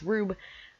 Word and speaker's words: R/B: actually do have one it is rube pronounced rube are you be he thinks you can